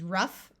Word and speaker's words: rough: and there are also a few words where GH sounds like the letter F in both of these words the o u will have a short u sound so this is rough and tough like I